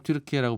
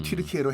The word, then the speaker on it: 튀르키예: 그들은 스스로 항상 튀르키예라고 불렀던. 네, 원래 발음은 튀르키예로 해달라.